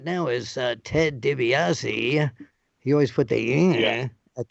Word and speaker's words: DiBiase: So that's why a lot of people would say DiBiase, because they'd heard it that way before. But I mean, technically, you would say DiBiase.